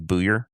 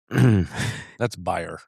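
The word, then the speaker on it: Buyer: It's spelled Byer, but it's Steve Booyer. That's Bayer.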